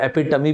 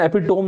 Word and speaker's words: epitome: इस वर्ड का pronunciation एपिटोम नहीं होता दोस्तों, इसका प्रोनाउंसिएशन होता है एपिटमी, याद रखिएगा, ठीक है, एपिटमी।